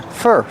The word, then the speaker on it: for: And we hear the pronunciation of for change to fur, because it's not a stressed word.